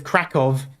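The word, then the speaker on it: Kraków: a v sound because krakov is spelled with a W but it's a v sound so I'm assuming it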